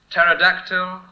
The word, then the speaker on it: pterodactyl: Pterodactyl, psalm, and pneumatic. London, Davis. They begin with P, which is not some. They all begin with an unpronounced P, Edinburgh, correct.